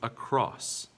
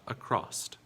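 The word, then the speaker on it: across: is just a cross there is no t sound in this word this is a cross not a crossed what about this next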